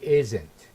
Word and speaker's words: isn't: he's not studying again the stress when it is contracted is on the first syllable we say he isn't he isn't not he isn't it's not he isn't it's is isn't he isn't studying and